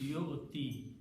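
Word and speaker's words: يؤتي: So in the pronunciation, we don't pronounce it, we just stop the pronunciation here. So it becomes yo-ti. This becomes like yo-ti, and we just write it ya here.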